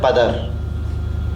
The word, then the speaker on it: پدر: اب آپ پدر میں، اس کا پرانا تلفظ ہے پدر، آپ فارسی والے اس کو پے کی زیر سے بولتے ہیں۔ تاجکستان میں جو فارسی بولی جاتی ہے وہاں اب بھی پدر کہا جاتا ہے۔ اب پے کو فے